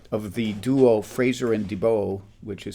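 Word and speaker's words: DeBolt: the duo fraser and dibo which is spelled like de bolt but i'm told is pronounced dubo and uh as i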